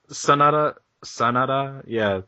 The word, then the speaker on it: Sanada: Sanada, yeah. Sanada, like, it's kind of like that. Yeah, Sonata.